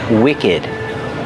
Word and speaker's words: wicked: And we have the word wicked. Wicked has the short is sound too, and we pronounce the ed like ud, ud. Together, wicked.